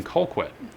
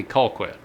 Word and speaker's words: Colquitt: actually in Georgia in Colquitt I believe I'm saying that right it's called mighty Colquitt you might have to say a southern accent in order to say it properly I think it might be Colquitt so anyway in Colquitt